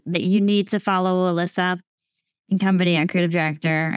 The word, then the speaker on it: Ilissa: mostly active on Instagram so it's Alyssa and Co and it's my name is spelled all messed up so it's it's i-l-i-s-s-a and then um a-n-d-co